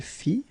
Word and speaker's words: fit: Il fit, elle fit, final T not pronounced.